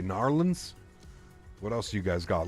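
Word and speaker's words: New Orleans: We've got Narlands. Gotta say Narlands.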